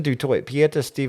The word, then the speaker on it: Du Toit: Her name is Du Toit, and I was like, Du Toit, it's bit of Steph Du Toit, and she's like, no, it's not Dutch, it's actually French. It's meant to be pronounced Du Toit.